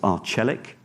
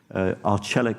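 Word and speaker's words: Arçelik: on the screen there that is pronounced arch aleck arch aleck of a global appliance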